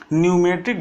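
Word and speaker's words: pneumatic: कि न्यूमेटिक drill machine यहां पर पीने में लिखा है लेकिन टीम साइलेंट हो जाता तुम लोग इसको बोलते हैं न्यूमेटिक ड्रिल मशीन ठीक है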